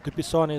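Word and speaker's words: Du Pisanie: Am I pronouncing that correctly? Yeah, it's right. Dupisani is the correct pronunciation there.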